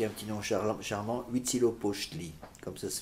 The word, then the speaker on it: Huitzilopochtli: Pour la dédicace d'un temple à leur dieu, qui a un petit nom charmant, Huitzilopochtli, comme ça se prononce. Ça s'écrit comme ça se prononce.